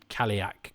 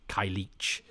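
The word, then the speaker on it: Cailleach: I think is the most common, but I'm sure I pronounced Kaliak Kailich until I heard this, and there are loads of different ones.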